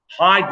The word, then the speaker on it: Hyde: with a y so it is pronounced hide like the verb to hide but it's spelled with a y so iguan hyde appears